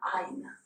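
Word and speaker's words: עין: prononce pas mais les sepharades, les séphardimes, le prononcente. C'est un ain pour ceux que ça intéresse, ça veut dire un œil en hébreu.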